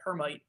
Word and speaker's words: Hermite: And then there's a third option called Hermite or Hermite, depending on how you want to pronounce it.